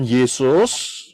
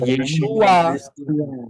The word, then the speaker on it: Yeshua: Nah, problemnya, apakah Yod Shin Waw Ayin ini bisa dibaca atau diucapkan Yesus? Tidak. Tidak, Pak. Ya, Pak. Tidak. Jelas tidak, nggak bisa. Karena Yod Shin Waw Ayin itu bacanya, pronounsnya, pengucapannya adalah Yeshua.